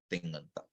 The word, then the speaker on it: Tinganta: Tinganta pada. So know how to pronounce this. Just, when you take the consonant class, ka, kha, ga, gha, the next letter, the nasal, is nga.